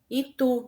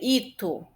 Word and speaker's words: Itu: Itu, nós percebemos que o tu é mais forte, por isso que ela é uma oxítona. Se fosse o i, seria ito, mas a gente pronuncia itu.